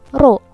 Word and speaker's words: rho: Nah, tekanan hidrostatis itu bisa kita rumuskan dengan persamaan pH sama dengan rho, ini dibacanya rho ya, bukan P.